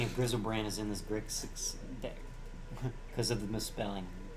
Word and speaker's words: Grixis: Oh, the reason why that is spelled wrong is because for a long time I mispronounced Grixis as Grisix, and Chad always gave me grief about it, so I just started intentionally spelling the deck names wrong.